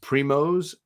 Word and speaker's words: primos: of the 27th already it's pronounced primos primos oh primos it's spanish okay lo siento i didn't realize it was a spanish that the word was being used in spanish so primos see i